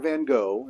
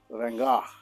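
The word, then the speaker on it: Van Gogh: off with Vincent Vana it's not van go it's not the way it's pronounced it's Vana Vincent van and his painting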